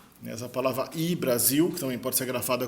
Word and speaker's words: Hy-Brasil: Alguns pronunciam como High Brasil, da maneira como se fosse em inglês, mas como é irlandês eu acho que não é High, acho que é I. Essa palavra I-Brasil, que também pode ser grafada como UI-Brasil.